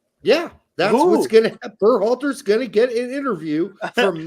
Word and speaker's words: Berhalter: Berhalter's gonna get an interview from Matt Crocker.